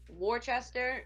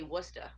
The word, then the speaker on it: Worcester: house Angeles see you say Worchester we say Worcester there's a town called Worchester around here but we don't call it Worchester I probably say worse Chester Shire we call it Worcester I don't know why